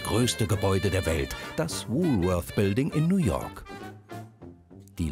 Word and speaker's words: Woolworth: kein Karstadt sondern eins das letzte war richtig denn es wird englisch ausgesprochen denn ursprünglich kommt das Unternehmen aus den USA 1879 eröffnet der Pharma Sohn Frank Winfried Woolworth dort den ersten Laden